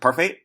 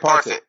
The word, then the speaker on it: Parfit: You addressed the repugnant conclusion that your mentor, how do you pronounce it? Parfait? Derek Parfit. Derek Parfit came to, that